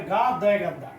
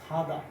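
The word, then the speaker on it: 가다: যেমন আমরা বলি গার গা দঘা তাহলে কি? গাদা। এটা গাদা না এটা হবে খাদা।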